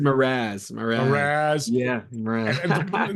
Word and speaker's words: Mraz: Oh, Jason Mraz.